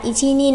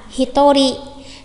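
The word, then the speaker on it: 一人: Mình có một người thì không đọc là ichi nin mà sẽ là hitori.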